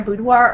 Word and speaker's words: boudoir: But boudoir, how do you say that?